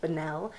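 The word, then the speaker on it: Bunnell: I don't know how to pronounce his last name, but it looks like it would be pronounced Banell of the band America, 1971 song.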